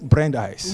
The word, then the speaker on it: Brandeis: Et j'ai bien prononcé le mot Brandeis. Oui, vous l'avez bien prononcé.